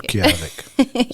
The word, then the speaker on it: Utqiagvik: I know it's a little bit difficult, but it's like Utqiagvik is kind of how most people who don't usually say it pronounce it. I mean, but I like to teach people it. Utqiagvik, that's how you say it.